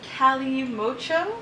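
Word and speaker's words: Calimocho: This is the Cali Mocho. Okay. That's how it's pronounced.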